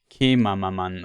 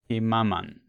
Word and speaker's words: Kemaman: Yeah, at the beginning we found Kuantan and Kemamaman or Kemaman. Yeah. One syllable too many.